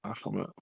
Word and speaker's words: Bahamut: It was Bahamut? How you say it? Bahamut.